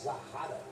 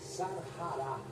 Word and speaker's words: Sarará: as imagens da sarará vou fazer uma correção aqui falar zarara mas a pronúncia correta é sarará ela está eh desaparecido